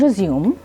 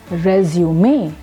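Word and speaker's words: résumé: When you use this word in the form of a verb, then the word is pronounced as resume, which means to restart.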